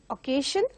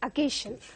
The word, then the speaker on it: occasion: It is not occasion, but it is occasion.